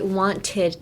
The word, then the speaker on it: wanted: You wouldn't say I wanted to. I mean, you can, but if you want to sound more fluent, you would be like wanted. Wanted. A T is kind of silent.